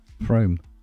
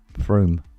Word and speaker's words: Frome: So, like, pretend there's 2 O's in there? Yeah, You like need to draw a line over that motherfucker. But there is. Yeah, you pronounce it like it is, but there aren't.